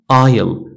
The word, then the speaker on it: isle: S is not pronounced before L in the following words.